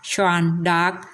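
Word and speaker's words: Jeanne d'Arc: และ ชื่อ ฝรั่งเศส ของ เธอ ออก เสียง ว่า ชน dar แต่ อย่าง ที่ ทราบ กัน ว่า ใน ปัจจุบัน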